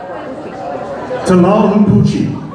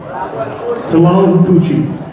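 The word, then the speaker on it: Tlahuelpuchi: We'll start with our first one, and this is, I'll give anybody a penny if you can pronounce this name. Anybody? Tlalhupuchi. Tlalhupuchi.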